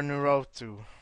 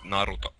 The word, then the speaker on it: Naruto: Do Do you guys prefer Dragon Ball Z or Nuru? Dragon Ball Z. It's pronounced Naruto.